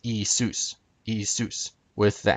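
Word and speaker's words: Ιησούς: how they pronounce it nowadays Jesus would be pronounced isus isus with the accent on Zeus not isus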